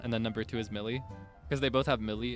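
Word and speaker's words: Mili: Millie.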